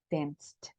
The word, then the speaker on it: danced: El hecho de que tenga una letra no significa que ese sea el sonido, porque si pensáramos en cuál es el sonido de la C, diríamos que es como una K, el K sound, ¿verdad? Pero en este caso está funcionando como una S, por eso el sonido acá va a ser el sonido de una T, danced.